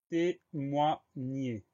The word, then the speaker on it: témoigner: Le son nie s'écrit G-N, tandis que le son et de la fin du mot va s'écrire ER parce que ce mot-là est un verbe.